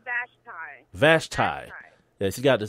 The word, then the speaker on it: Vashti: Vashti? You're close. It's Vashti. Vashti.